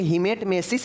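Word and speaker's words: hematemesis: देखिए यहाँ पे हेमेटमेसिस है, यहाँ पे पी वाला कोई भी उच्चारण नहीं है बीच में, ठीक है ना। तो यहाँ पे हेमेटमेसिस रहेगा तो समझ जाइएगा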